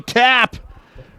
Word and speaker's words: Tapp: And big number 55, Corey Tapp, Rhymes with sap.